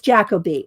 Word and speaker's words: Jacobi: It's Jacoby.